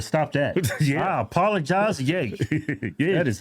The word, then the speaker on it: Ye: really triggers a lot of people when you mispronounce their name. Yeah. I think I'd still call him Kanye West. Yeah, I know. I better stop that. Yeah. I apologize. Yay.